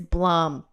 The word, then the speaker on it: Blum: guy how do you how do you say this guy's name Bloom he's like it's Blum okay do we do